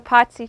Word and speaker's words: Pazzi: The Pazzi Chapel. Spell it. Pazzi, like pizza. Pizza, Pazzi.